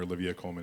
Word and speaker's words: Olivia Colman: You work with some amazing actors, Olivia Colman, Academy Award winner Olivia Colman, excuse me, I have to say it correctly, as well as Jessie Buckley, Peter Sarsgaard, Ed Harris.